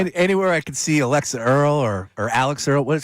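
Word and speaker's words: Alix Earle: Anywhere I could see Alexa Earl or or Alex Earl? What? How do you say her name? Is it Alex Earl? It's Alex Earl.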